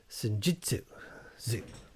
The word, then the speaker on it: Senjutsu: Senjutsu.